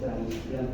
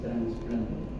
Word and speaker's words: trasplante: Busquen ahí en Google a ver cómo se escribe, si es trasplante o es trasplante. Yo estoy seguro que es sin N. Es trasplante, no es transplante.